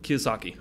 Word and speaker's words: Kiyosaki: Kiyosaki. Kiyosaki, holy cow. Pretty close. Can you spell it?